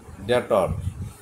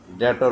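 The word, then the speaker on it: debtor: ব্যাপারে বাধাগ্রস্ত হি ইজ ডেটর বি টা উচ্চারণ হবে না ডেটর উচ্চারণ করবেন হি ইজ ডেটর ডেটর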